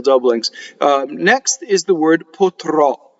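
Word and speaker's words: potrò: So all of the future tense ends in a strong O, and that strong O is accent on the last syllable, and the O is open. We write open O in IPA by the broken circle. So the first O is like Joe, right?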